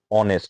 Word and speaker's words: honest: You have a consonant sound because your H is silent.